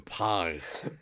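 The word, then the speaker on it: Pagh: I think it's like Pog. Like P-A-G-H. Yes, P-A-G-H. The correct pronunciation would be Pog. Yeah. Pog. But nobody in TNG, especially Michael Dorn, pronounces Klingon correctly.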